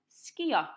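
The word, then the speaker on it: sgïo: This time, skio. You probably could guess that one. Skio. It's easy. It sounds very similar to the English.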